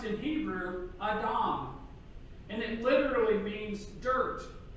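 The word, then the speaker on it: אדם: adam from the creation story of genesis is pronounced in hebrew adam and it literally means dirt or earth soil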